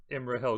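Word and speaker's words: Imrahil: never come out of fighting i think prince emer hill had some claim to the kingship of gondor it's pronounced prince emery hell glowing and yeah all right so emerald he's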